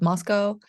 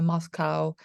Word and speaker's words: Moscow: I'm in my office right now in a town called Moscow, pronounced a little bit differently than the Moscow in Russia.